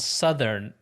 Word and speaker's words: Southern: about that South and Southern is really the only one that's changed, right? Eastern says Eastern, the exact same. The South and Southern, the way it's pronounced changes, and that's really weird to me.